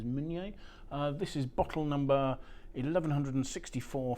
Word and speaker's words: Meunier: um not everybody calls it Pinot Monier anymore it's now tending to be referred to as mignier this is bottle number